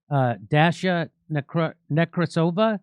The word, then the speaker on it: Dasha Nekrasova: Dasha Nekrasova.